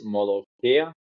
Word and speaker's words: Molokhia: episodes are in It's Molokhia. That's how you pronounce it. Okay. molokhaya?